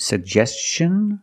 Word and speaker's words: suggestion: Is it suggestion or suggestion? That's right, it's suggestion, because the T-I-O-N is after an S. Make the hard ch sound like chicken.